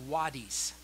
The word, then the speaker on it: wadis: But in Israel itself, they had something called wadis. It's spelled W-A-D-I-S.